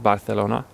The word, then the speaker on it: Barcelona: Spanish is sometimes called Barcelona and sorry for butchering that by the way while there's a common myth in Spain that pronouncing it with a sort of soft th sound came about because the